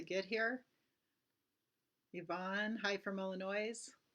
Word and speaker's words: Illinois: here Ivon hi from Illinois Illinois sorry s is silent hi Sue yeah thanks